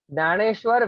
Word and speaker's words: Gyaneshwar: Okay, pronounce it properly. Naneshwar Vitthal Kulakarni.